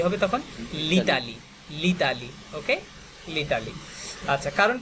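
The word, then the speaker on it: L'Italie: যেমন যদি বলি লো ইতালি, এটা একটু কঠিন না বলেন? উচ্চারণটা কঠিন, রাইট? আবার যদি বলি লা ইতালি, এটাও কঠিন। তো সংক্ষেপে প্রোনাউন্সিয়েশনের সুবিধার্থে লিতালি বলাটা ওই কম্পারেটিভলি দুইটা থেকে সহজ, রাইট?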